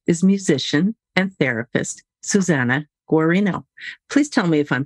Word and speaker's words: Guarino: consultant today's guest is musician and therapist Susanna gorino please tell me if I'm pronouncing that right that's right okay Susanna is